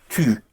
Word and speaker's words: tu: The how to use it is very simple, because tu, tu, pronounced tu. Again, you have the u.